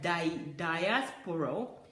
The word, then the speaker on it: diaspora: Most people in the diaspora have, did I pronounce it correctly? No. Most people, Julie said no, in diaspora have been brainwashed like that. There's no L in it. That's why Julie's saying that I pronounced it wrongly.